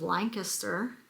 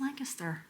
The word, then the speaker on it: Lancaster: And they are out of Lancaster, Pennsylvania. And yes, it's pronounced Lancaster, not Lancaster. That's how we know you're not local. If you say Lancaster, we know. Lancaster is in California. Lancaster is in Pennsylvania.